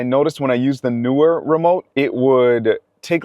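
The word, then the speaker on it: Neewer: And newer is how you pronounce it.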